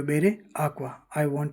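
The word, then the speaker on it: acca: वो बेरे आकवा I want to drink water आका आका यानी एच जो होता है उसको इटालियन में आका बोलते हैं और इस एच का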